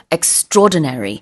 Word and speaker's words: extraordinary: 근데 extraordinary라고 발음하지 않고 extraordinary 이렇게 발음을 하고요.